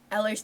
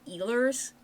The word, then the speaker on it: Ehlers: Why are none of them pronouncing it right? Eller's download. They're all saying eers. That's not how you say it.